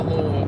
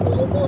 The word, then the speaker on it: Louisville: You're not making it to Louisville, bro.